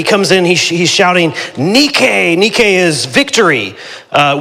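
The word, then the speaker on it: νίκη: He comes in, he he's shouting nikke. Nikke is victory. Uh we get our word for our modern shoe company, Nike. We mispronounce it for that one, but uh in in Greek, it's nik.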